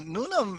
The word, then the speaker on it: Noonum: did you call your company like this yeah nunam is a sanskrit word it means for the future and it's also a two-syllable word that anybody can pronounce very easily right why don't you say go noonan yeah go noonan yeah see it's that easy